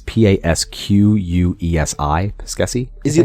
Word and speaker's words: Pasquesi: David Pasquesi, I think is how it's pronounced. It's Pasquesi.